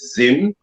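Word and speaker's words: Zzyym: The name is Dana Zim, pronounced Zim, Z-I-M or Z-I-M, of Fort Collins, Colorado.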